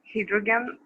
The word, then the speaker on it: hydrogen: It's the open syllable. It's Y in the open syllable. Therefore, it has to be pronounced as I, not as E.